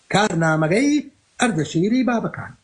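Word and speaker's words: كارنامگ اردشیر بابکان: فمن ضمن الملوك الذين حاربهم هذا النص في كتاب كارنامغي أردشيري بابكان. عندما أقول كارنامغي أردشيري بابكان هنا أنا لا أنطق بالكردية، هذا هو النطق البهلوي لاسم الكتاب.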